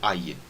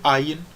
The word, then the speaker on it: Ayin: E o Ayin, antigamente tinha um som diferente do som do Aleph, mas hoje em dia é pronunciado da mesma forma que nem o Aleph, e os dois são pronunciados com aquela parada glotal, então A, tá bom?